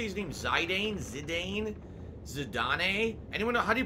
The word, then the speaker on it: Zidane: I don't know man today Bavaria said ok Zidane the we are pronouncing is a typical way most pronounced it the proper is Zidane as it was spoken through voice acting in